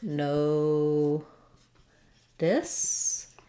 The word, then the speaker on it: notice: So when we're just saying notice by itself, we're going to have it sound like no this.